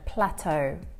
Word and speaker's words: plateau: reach a plateau so this is the way that we pronounce this word plateau so this means that